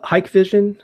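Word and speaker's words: Hikvision: Hike Vision, and that's spelled, I think, HIK Vision.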